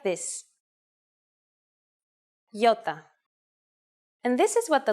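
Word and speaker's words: γιώτα: is a vowel that you may have heard called iota in Greek though it is called Yota and it makes the sound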